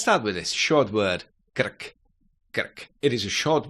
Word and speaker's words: krk: However, in words, r, as any other Czech consonant, is short. Krk, krk.